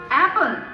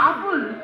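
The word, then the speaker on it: apple: sir stand up please এখানে কি লিখছে অ্যাপেল নো নো নো নো আসল উচ্চারণ করো দেখি অ্যাপেল নো নো নো নো এইভাবে হয় অ্যাপেল ঠিক আছে আছে সাউন্ড নাই সাউন্ড কিছু আপুল হইতেছে হইতেছে আবার ট্রাই করো এই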